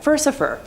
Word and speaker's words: Furcifer: It seems much more likely that the name is a corruption of Furcifer, the Latin word for scoundrel that also rhymes with Lucifer, which works with him being a count of hell and all.